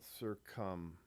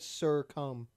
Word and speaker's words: succumb: Don't succumb to that when you're in that How'd spot. you pronounce that word? Succumb. Succumb. Succumb. Did I put an R in there? You said Sir Cum. Like Mr. Cum.